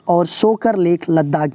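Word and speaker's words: Tso Kar: देखिए तसोकर लिखते हैं लेकिन सोकर मतलब त जो है कि साइलेंट रहता है, सो मोरीरी लद्दाख में और सोकर लेक लद्दाख में।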